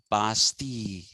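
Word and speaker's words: Bastille: s veres it is written but it is pronounced verai and on the way they were passing the basti basti is written b a s t i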